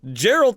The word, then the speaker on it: Geralt: true I'm like well geralt isn't in the game so I guess it's not true he found a loophole it is geralt it is the correct